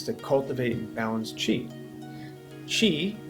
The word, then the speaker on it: qi: cultivate and balance chi chi again qi as it spelled is a concept from